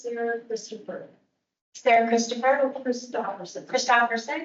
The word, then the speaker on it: Christopherson: Christopher Sarah Christopher Christopherson Christopherson is that right yep it's kristoferson and that's spell um